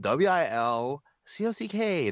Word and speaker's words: Wilcock: Yeah, if you could, and thank you for bringing up his name again, which is spelled WILCOCK, not COX. And wait, isn't it? Is it actually ends in COCK? It's literally Wilcock. Wilcock.